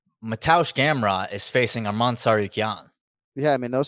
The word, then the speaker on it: Tsarukyan: Tsarukyan. One more time. Arman Tsarukyan.